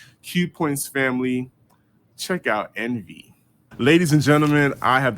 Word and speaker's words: ENV: When when I found out about them, I was like, "Is the name pronounced ENV or is it pronounced Envy?" So, I just got schooled tonight that it is in fact Envy, but you said there was a story behind that.